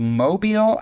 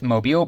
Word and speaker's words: Mobile: I'm second question is uh in regards to Mobile Alabama now I'm saying it wrong we all know it's mobile but uh if anybody's been watching the show